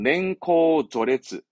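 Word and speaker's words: 年功序列: 그래서 냉코조레츠, 냉코조레츠 하는데요. 들어보셨죠? 연공서열. 연공서열제를 뭐 옛날에 많이 얘기했죠. 뭐 그러니까 나이와 어떠한 뭡니까 근무 연차에 따라서 이제 승진하고 그렇게 되는 뭐 서열 얘기합니다만은 뭐 중요한 부분은 아니고요. 냉코조레츠라는 식으로 쓰여지기도 하더라.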